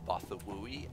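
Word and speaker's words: Bothawui: Battle of Bathawi. I've actually heard that pronounced Bathawui, and I am aware of exactly what he's referring to, and it was quite the battle.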